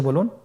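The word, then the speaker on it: ب: বা হরফে টান হবে। এক আলিফ টান। আপনারা আমার সাথে বলুন বা আবার বলুন বা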